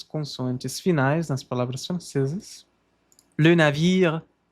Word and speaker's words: navire: Le navire, levemente pronuncia-se esse R. Le navire, entre, entre, entre. Um sonzinho quase mudo desse R aqui.